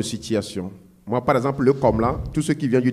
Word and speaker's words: Komla: C'est pas Komana, non, c'est Komla.